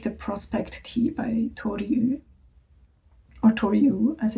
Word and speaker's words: Yu: So I wanted to make the Prospect Tee by Tori Yu, or Tori Yu as it's also pronounced. Although I have to say the syllable YU in Chinese is actually Yu, but because she's American